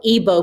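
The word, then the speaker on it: Igbo: from the evo people that g is silent so it's e like a hard e g is silent so the i is pronounced like an e um bo ibo people of nigeria so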